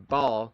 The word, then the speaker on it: Baal: have the belief in Bal or Bale, however you want to pronounce him. Uh, B A L. I pronounce it Bale.